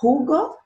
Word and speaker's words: jugo: Se acorda que o J em espanhol tem som de RR? Então vai ficar jugo de naranja.